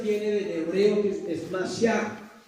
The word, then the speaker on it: Mashiach: Y la palabra Mesías venía del griego, del hebreo, que es Mashiach, M-A-S-H-I-A-H. Se la repito, M-A-S-H-I-A-H, la última parte es che, entonces es muy difícil pronunciar. Dicen que se pronuncia Mashiach, significa el ungido.